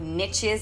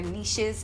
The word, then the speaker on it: niches: people with significant followings and certain type of niches or niches depending on how you say it what post